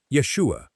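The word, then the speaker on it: ישוע: In Hebrew, it is pronounced Yeshua.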